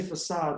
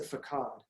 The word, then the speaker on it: facade: never get it so it's supposed to say facade but it said fakad right it's very subtle it